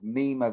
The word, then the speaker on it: Mime: like the frustration of Nema the dwarf or which looks like the way it's spelled as mine m i my m e um in uh in